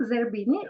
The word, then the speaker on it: Zerbini: How should I pronounce correctly? It's or? okay. Zerbini. Is it correct? Zerbini, yeah.